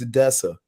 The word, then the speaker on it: Odessa: little bit about uh let me pronounce it right it's Odessa yep you got it uh yeah can